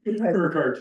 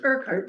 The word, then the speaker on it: Urquhart: and, will you please help me with the proper pronunciation? Urquhart. Urquhart. Urquhart, Okay, here.